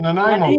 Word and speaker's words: Nanaimo: How do you pronounce that? Nanaimo? The Nanaimo bar.